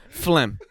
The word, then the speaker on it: phlegm: It should be F-L-E-M. Phlegm. I don't need a G. I don't need a PH because we all hate silent letters equally. We can all agree on that. We all do not like silent real letters. G's moving silence like phlegm, But really what pisses